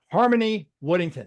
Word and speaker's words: Harmony Woodington: And I'm very excited to have Miss Harmony Woodington.